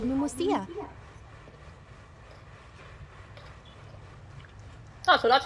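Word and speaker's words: Pneumousia: Besides indemnitium, we have another type of energy called pneumosia. Oh, so that's how it's pronounced.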